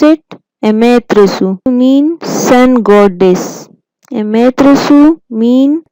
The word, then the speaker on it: Amaterasu: Amaterasu, pronounce it Amaterasu, mean sun goddess.